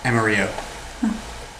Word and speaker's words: Amarillo: Is it Amarillo or Amarillo? Amarillo. I'd say Amarillo. 2 L's. It's from Texas. Spanish pronunciation.